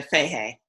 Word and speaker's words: Fahey: Well, it's Irish, and it was O'Fahey, but we pronounce it here in America Fahey.